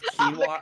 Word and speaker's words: quinoa: It's pronounced quinoa, actually.